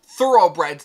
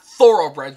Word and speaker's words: Thoroughbreds: finally figure out that it's pronounced thoroughbreds not thoroughbreds which is how I was pronouncing it for this entire time I suck at pronunciations